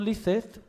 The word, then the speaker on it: licet: nequod licet honestum est, lo pronuncia así, porque aunque la C en latín clásico se pronuncia como K, non nequod licet, pero estoy dando en latín clásico, es latín ya del siglo VI después de Cristo.